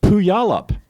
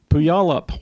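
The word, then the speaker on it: Puyallup: to think of earlier puyalup puyalup Washington if you see how it's spelled you will never pronounce it correctly I thought it was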